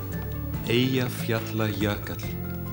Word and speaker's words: Eyjafjallajökull: So, Daniel, the question everyone wants to ask you is, how do you pronounce the name of that Icelandic volcano? Eyjafjallajökull.